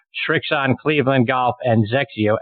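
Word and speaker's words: XXIO: on Cleveland golf and Zek Co xxi o is how you spell that thes xeo brand so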